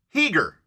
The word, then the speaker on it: Giger: how to pronounce HR it is pronounced heager Swiss here was swis HR